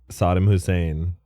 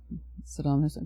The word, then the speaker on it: Saddam Hussein: Sodom Hussein. Sodom. Good. Saddam Hussein.